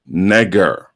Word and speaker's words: Negro: Negro. He says, it's a noun. It is remarkable that our common people retain the exact Latin pronunciation of this word negger.